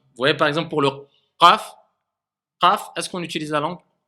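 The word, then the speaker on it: قاف: Faites attention à ne pas confondre avec le kaf. Pas confondre avec le kaf. Donc le qaf, on le sent. Qa, qa, qa, eqa, qa, qu, qi, et pas ka, ku, ki.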